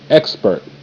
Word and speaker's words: expert: Expert. E, k, ek, sp, spurt, spurt, ek, spurt, expert.